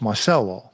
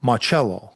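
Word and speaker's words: Marcello: One person in particular was Carlos Marcelo, properly pronounced Marello, who it seemed had connections to both Oswald and Ruby.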